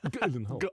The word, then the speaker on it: Gyllenhaal: And it's actually how you pronounce his surname. Gyllenhaal. That's how you do it.